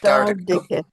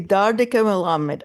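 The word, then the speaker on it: דרדקי מלמד: And how do you pronounce it in Yiddish? Dardarki Melamed. Dardike. Dardike. Okay, Dardike Melamed.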